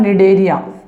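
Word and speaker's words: Cnidaria: अगला word use आ रहा है निडेरिया। एन साइलेंट रहता है इसमें।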